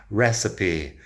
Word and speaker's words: recipe: Recipe. Muchas veces si tenemos una E al final de la palabra después de una consonante, no suena. En este caso sí, recipe. 3 sílabas, recipe.